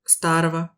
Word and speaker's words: старого: Il y a une bizarrerie orthographique qui concerne les terminaisons du génitif, on écrit starogo, mais on prononce Старого. le g se prononce v.